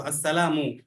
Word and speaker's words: আসসালামু: আসসালামু আলাইকুম ওয়া রাহমাতুল্লাহ আসসালামু এর পেশের মিমের পেশটা আমরা সঠিক ভাবে উচ্চারণ করব আসসালামু পরে আলাইকুম আইনের আইনটাও